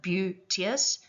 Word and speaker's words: beauteous: And you can hear that it consists mostly of single syllable words except for beautious and evening which would have both been pronounced with two syllables each. So beautious and evening.